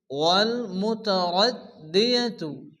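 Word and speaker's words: وَالْمُتَرَدِّيَةُ: ওয়াল মাউকুযাতু ওয়াল মুতারাদ্দিয়াতু, দালের উপরে তাসদীদ, যে অক্ষর উপরে তাসদীদ আসে সে অক্ষরটি দুবার উচ্চারণ হয়। প্রথমত ডান দিকের অক্ষরের সঙ্গে মিলিয়ে পড়তে হয়, এরপর শুধুমাত্র ওই অক্ষরটি উচ্চারণ হয়।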